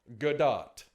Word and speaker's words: Gadot: point and vice versa her last name doesn't run with dough the tea on her last name isn't silent it's pronounced gadot according to the insider the